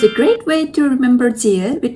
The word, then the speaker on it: 지읒: Yeah, your tongue goes at the similar position when you pronounce S sound and J sound. But your tongue touches your palate when you make J sound.